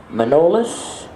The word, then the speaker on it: Manolis: His name is Manolis Alagazakis, and I believe actually it's pronounced Manoli, but I say it's Manolis Alagazakis.